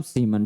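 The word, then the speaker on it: Siemens: एस से दिखाते हैं एस मतलब सीमन ठीक है या साइमन भी कई लोग कहते हैं उच्चारण देख लीजिएगा सबका अलग-अलग होता है ठीक है तो ओम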